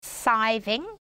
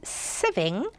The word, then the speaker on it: sieving: right it might be spelt as if you pronounce it siving that the word is sieving and the item that we use or the